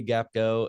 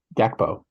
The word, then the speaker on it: Gakpo: Cody Gapgo is tied for the lead of the Golden Boot.